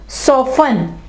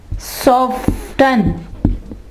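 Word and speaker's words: soften: ठीक है, इसके अलावा सॉफन, सॉफ्ट, सॉफ्टन नहीं कहेंगे, इसके कहेंगे सॉफन।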